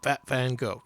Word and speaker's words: Van Gogh: Van Gogh. Yeah, that's how you pronounce it.